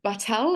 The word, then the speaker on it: Batelle: proper introduction so Gigi is the co-founder of battel am I pronouncing that correctly Gigi yeah correct perfect it's